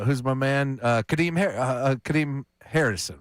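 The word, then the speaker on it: Kadeem Hardison: Uh Kade Kadim Harrison, right?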